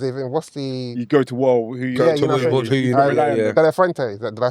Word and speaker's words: De La Fuente: De La Fuente. Did I say it right? Yeah, he did. De La Fuente.